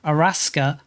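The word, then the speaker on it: アラスカ: We have, of course, called them Araska, the Japanese spelling, pronunciation of Alaska, but we need more names.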